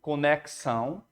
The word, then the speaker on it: conexão: Tem o X com som de KS, conexão, né? O X com som de KS. Então, tem dífono aí. E esse ão aqui é o que nós vimos lá em acentuação gráfica, que é o famoso ditongo. Então, inclusive, é a resposta da 1, né? Que há 7 letras e um ditongo. O ditongo é formado pelo ão aí, conexão.